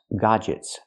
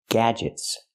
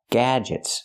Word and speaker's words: gadgets: word is not pronounced godets godets we cannot use the open a sound like hot and stop we need the a sound like black cat G the word is pronounced gadgets G gadgets not godets but gadgets